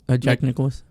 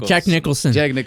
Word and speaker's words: Jack Nicholson: that uh what's his name uh Jackson nickel Jack Nicholas oh yeah oh my God what's his name Jack Nicholson oh my God I know I said it